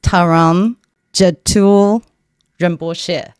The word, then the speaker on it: Trungram Gyaltrul Rinpoche: And I want to make sure I pronounce his name correctly. It's Tam Jet Remos.